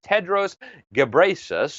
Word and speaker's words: Tedros Ghebreyesus: His name is Dr. Tedros Ghebreyesus, I think is how you pronounce his name.